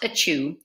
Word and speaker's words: Achiu: Pronounced Achiu, Achiu's nickname was Sneeze.